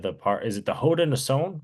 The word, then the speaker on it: Haudenosaunee: Is it the Haudenosaunee, right? That's how you pronounce it. Haudenosaunee.